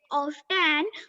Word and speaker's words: often: Jars of water are often found at the Often नहीं बोलते हैं बेटा. That is often. T often. and 10 नहीं बोलते. Often. Okay. Often. T is silent.